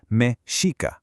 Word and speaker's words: mexica: That's pronounced mexica.